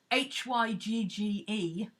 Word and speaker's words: Hygge: Is it Hig or Hug? Inlay, you'll probably be able to tell us. She's from around that area. She might have a better idea of how to pronounce it. She's Scandinavian, at least. Yeah, Hygge.